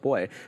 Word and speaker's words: buoy: we got confirmed by some of the Brits in the chat who did confirm that it is pronounced boy not that I needed